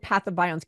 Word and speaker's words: pathobionts: It's PATHO, patho, and then bionts, BIOTNTS, BIONTS. Pathobionts.